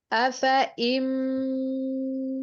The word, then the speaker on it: أفإن: अफ़इम मित्त أفإن مت यहाँ पर आप देखिए फा के ऊपर जबर है और आगे अलिफ है, लेकिन ये अलिफ पढ़ा नहीं जाएगा बल्कि इसको हम साइलेंट ही रखेंगे। यहाँ इसके ऊपर एक दायरा आपको नजर आ रहा है तो इसका सिग्नल यही है कि आप इस अलिफ को नहीं पढ़ेंगे।